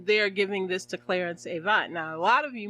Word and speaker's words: Avant: Yeah, Clarence Avant. Some people say Avant, but it's Avant. It's pronounced Avant.